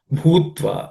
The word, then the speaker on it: भूत्वा: Bhutva. In the bhutva, the bhu is aspirated.